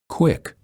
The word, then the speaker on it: quick: QU sounds like KW. Words that are spelled with QU are pronounced as Qu. Quick.